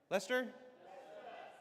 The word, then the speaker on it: Leicester: How do you say? Is that Leicester? Lester.